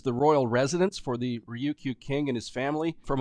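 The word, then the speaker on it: Ryukyu: they're the native OK it's spelled r Yu Kyu do you it's a little difficult to say but Ruku people and they are the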